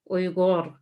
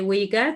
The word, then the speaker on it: Uyghur: I'm Uyghur myself, and I find a lot of people find it very difficult to pronounce that because of Rei, we have Uyghur. But I know a lot of people say Uyghur, that's fine.